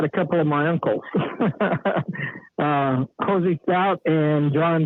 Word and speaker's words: Hosea: And Hosey liked his name called Hosey Stout, not Hosea or Hosey or whoever. It's a real weird pronunciation, but it was Hosey Stout.